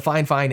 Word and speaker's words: FiFine: And here we are with the Fine Fine SC3. Now, it is pronounced fine fine, even though it's spelled Fifine or Fifine.